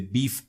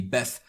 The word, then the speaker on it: BeEF: More specifically, we're going to be looking at client-side exploitation with the BEEF framework or the BEF framework, depending on how you want to pronounce it.